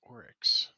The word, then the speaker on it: oryx: just looking for the way to how to pronounce this thing I believe it's oryx you got it right okay good in that